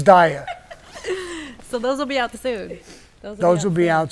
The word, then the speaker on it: Dyer: I keep calling him Dwyer, but it's Dyer.